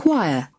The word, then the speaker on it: choir: here is uh you got a better sound choir choir you see why choir choir what would